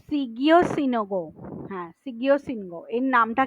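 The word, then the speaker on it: Shigeo Shingo: reduce human error and ইট was develop by সিয়াগো সিনহো from Japan sorry সিগিও এদের নামগুলো খুবই difficult pronounce করা তো সিগিও সিনোগো হ্যাঁ সিগিও সিনগো এর নামটা কিন্তু মনে রাখার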